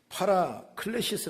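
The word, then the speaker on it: παράκλησις: 우리를 돕는다고 말이죠 에서 2위로 를 헬라 말로 발음하면 팔아 클래시 스 란 말인데 팔아 클래시 스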